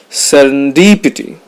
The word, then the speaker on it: serendipity: of the deal serendipity the stress is on the third syllable serendipity it refers to finding